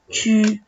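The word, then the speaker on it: 去: el verbo ir, chu, se escribe QU, chu, y por ahí si nos ponemos a ver, para nosotros sería Q, pero pronunciamos chu como C-H-I-U, chu.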